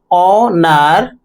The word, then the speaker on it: honor: Here, honor. So here, o, nar, 2 syllables, air, this is again 1 syllable.